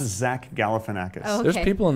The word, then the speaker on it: Zach Galifianakis: It's pronounced Zach Galifianakis.